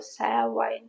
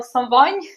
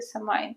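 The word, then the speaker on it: Samhain: там чи то савайн, чи то севань, чи то взагалі слово якесь більше схоже на савань, на саван, ніж на самайн, але вже як є. Із давньоїрландської мови самайн, ну, вірніше, та якась правильна вимова, а не та, яку я буду вживати самайн.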